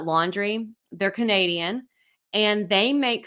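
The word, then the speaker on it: LNDR: swimsuits and I found this brand called laundry and it's spelled l n d r uh laundry they're Canadian and they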